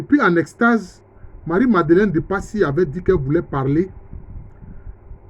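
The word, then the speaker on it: Pazzi: Bon, ça s'écrit Passy avec 2 Z, mais ça se lit Passy.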